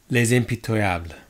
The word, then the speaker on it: Les Impitoyables: to practice with listening to the the Google pronunciation so here it is turn it up for you there we go lays MP table alright so let's see how this tastes how